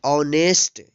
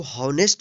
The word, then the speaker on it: honest: HONEST, इसको पढ़ेंगे ऑनेस्ट। इसको हॉनेस्ट नहीं पढ़ेंगे, क्या पढ़ेंगे, ऑनेस्ट।